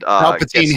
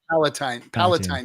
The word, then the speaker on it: Palatine: that zaps people and Palpatine Hill in Rome. Yeah. Oh, that's what it is. Oh, okay. It's actually Palatine Hill. Yeah. Oh, I said it wrong.